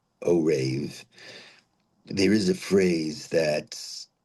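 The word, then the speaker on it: ערב: So today's topic is one word that stems from the Bible and that's the word o rave. O rave. It's spelled iron reet o rave.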